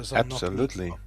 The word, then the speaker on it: Szolnoki: are in a great semi-final match between Oliver Szolnoki of Hungary and Hubert Lopotko. I love the way you pronounce his name, Joris.